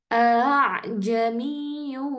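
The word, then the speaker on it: أَأَعْجَمِيٌّ: ada hamzahnya juga Ukhti jadi cara bacanya e kalau misalnya dibaca ee awalnya itu Aa jamiun nah nah itu tapi ee agak susah akhirnya dibacanya Nah maka kita sambungkan langsung Ukhti karena kan ada Hamzah Alif Ain nah itu jadi biar mudah ajamiyu wa Arabi Nah jadi langsung disambungkan a a jamiyu wa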